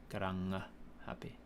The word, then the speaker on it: Karangahape: You just got to remember that they pronounce all of the letters. There's no silent letters, and that the ng is always ever a ng sound and not a ng, not a ng. There's not a g sound in it.